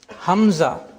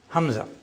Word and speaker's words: Hamza: Hamza, which means the closure of the glauus. You know there are vocal cords vocal cords if they come together together the glauus is closed then hamza is pronounced but later on when